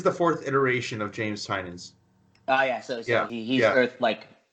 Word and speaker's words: Tynion: I'm not trying to be a dick or, hate on James Tynion or Tinian or however you say his name. I say Tinian.